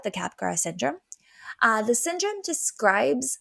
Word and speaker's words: Capgras: g a RS but like in French we don't pronounce the last letter um this condition was